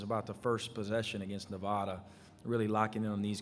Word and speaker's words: Nevada: in it so yeah Nevada is what we always hear but it's Nevada it's Nevada not neva yeah I would if